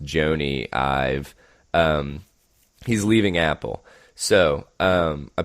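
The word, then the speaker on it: Jony Ive: And I believe it's pronounced Joni Ive.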